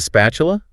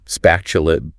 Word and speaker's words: spatula: Then you have a spatula. Great for flipping things like pancakes. Flipping is easier to say than turning over. And spatula. Spatula. That tu makes the chi sound again.